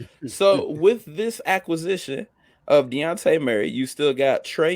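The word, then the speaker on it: Dejounte: san antonio fans uh deontay is how you say his name deontay murray was traded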